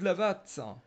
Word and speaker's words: Lavat: D'ailleurs, Alors attends, justement, c'est Lava ou Lavat? Parce que pas que c'est je prononce. Claude Lavat. C'est Lavat, hein, ça se dit Oui, bien Lavat. Ouais, pas que je fasse une erreur de prononciation de parce que.